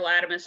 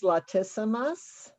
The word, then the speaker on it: latissimus: got issues with their latimus dorsi, when really it's usually a teres muscle, now that I'm learning more about anatomy. And so your pronunciation there is latissimus? Latissimus.